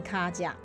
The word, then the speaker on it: 跤跡: 也就是说它念成卡甲，台语念作卡甲啊，国语就是足迹的意思，好不好？